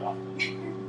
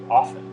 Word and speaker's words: often: a jackass if I say often with the T. And I can talk about dialects, I can talk about tradition, I can talk about history and show them the data, and dictionaries, and the pronunciation, and blah, blah, blah. And they're like, Mrs. Frobisher in 5th grade said it should be often. And they're like, what about, you don't say the T in soften, do you?